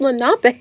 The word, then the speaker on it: Lenape: I'm saying it's pronounced Lenape.